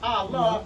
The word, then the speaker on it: Ali: in Noble Drew Ali, which we pronounce as Allah, and his supreme, or those who live to point to his supreme body.